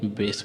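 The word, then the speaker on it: base: ठीक है, अब इसे जोड़ दीजिए पूरा तरह से, तो क्या बन गया, ये बेस बन गया। ठीक है, इस प्रकार से इसका उच्चारण होता है।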